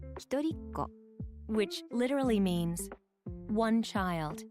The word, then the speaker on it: 一人っ子: 一人っ子 Literally means one child.